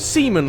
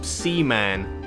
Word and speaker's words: Seaman: Though it really isn't Semen like I'm sure you'd love me to say for the rest of this segment, as it's spelt like Seaman, as in man-sea creature.